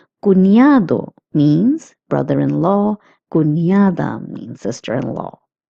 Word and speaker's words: cuñado: Cuñado means brother-in-law. Cuñada means sister-in-law. Notice that the N with the curly line is pronounced as ña, as I have also told you in previous classes. Cuñado means brother-in-law.